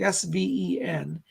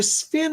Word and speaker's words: Sven: my name is sven he pronounces it sven like s-v-e-n he says i'm sven